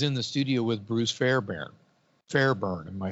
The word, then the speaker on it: Fairbairn: would said it right fair bairn okay it's fair with ai and baron b-a-i fairbairn uh he's in the